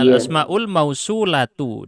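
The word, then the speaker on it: الأسماء الموصولة: Itu salah bacanya. Tapi baca dulu coba. Al-asmaul. al-asmaul mausul Salah harusnya. iya Al-asmaul mausulatu.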